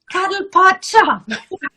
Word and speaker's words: Cuddlepodshop: I always say your shop name wrong. I'm like, that's fine. It's Cuddlepodshop.